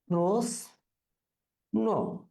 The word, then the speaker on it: প্রশ্ন: তারপরে আমরা যাই, দেখো প্রশ্ন, আমরা কিন্তু প্রশ্ন বলে থাকি অনেকে, অনেকে এখানে স এস এইচ, যেটা এস এইচ স উচ্চারণ করে থাকি, কিন্তু এটা দন্ত স অর্থাৎ স উচ্চারণ হবে। তাহলে প্রশ্ন, এই জায়গাগুলো কিন্তু একটু সাধারণত আমাদের মনে রাখতে হবে।